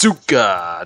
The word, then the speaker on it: Asuka: Am I saying that right, Paul? Asuka? I don't know how to say it. It's Asuka.